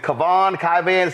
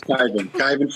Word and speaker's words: Kyvan: First off, is it Kavan? Pronounce it, please. It's Kyvan Foods.